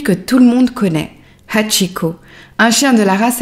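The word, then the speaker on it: 八: caractère japonais appelé Kanji, représentant le chiffre 8 qui se prononce Hatchi.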